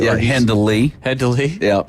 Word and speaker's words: Hendley: Yeah, Hendley. Hendley. Yeah. But we sometimes say it without the D, like Henley.